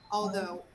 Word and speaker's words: although: although i don't know although although don't say ow ow no oh the same sound of